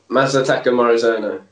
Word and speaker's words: Masataka Morizono: Masataka Morizono. That is correct. Pitch 2-0. Sharp starts. Did he pronounce that right?